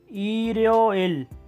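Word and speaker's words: 일요일: उसके बाद अतवार को कहते हैं इल यो इल। लिखते हैं इस तरह और प्रोनाउंस करते हैं ईरियोइल।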